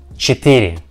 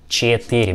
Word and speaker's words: четыре: Четыре, четыре, четыре. We see that this figure right with the letter Е, е, but we pronounce this sound something between letters Е and И, and when we join